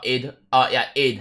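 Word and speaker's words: Eid: I hope you guys have a really great Adid Mubarak or id not aid.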